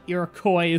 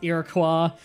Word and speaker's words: Iroquois: was either Shoshone a Iroquois not Iroquois some people pronounce it it's Iroquois Shoshone a I think